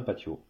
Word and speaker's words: patio: un patio c'est un patio le T se prononce t en espagnol voilà aussi aussi surprenant